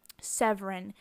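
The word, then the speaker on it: Seweryn: Severin. The W's are pronounced V's in Polish.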